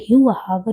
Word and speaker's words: शिवसागर: वैसे, ऐसा कहा जाता है कि असमिया में हर चीज 'हा' ध्वनि में बदल जाती है। इसीलिए शिवसागर 'हिवा हागर' बन गया है।